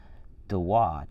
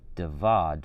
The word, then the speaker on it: David: it may have been it was probably pronounced with a wah instead of a w sound so his name would have been as funny as this sounds dewad or deweed but the valve after the roman conquest before the time of christ began to be pronounced with ava and so david or davad would be the way jesus pronounced it kind of interesting um